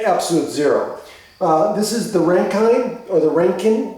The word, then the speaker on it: Rankine: zero this is the rankine or the ranking the ranking i think it's pronounced rankin measurement so this is